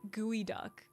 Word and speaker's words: geoduck: Geoduck is pronounced gooey duck.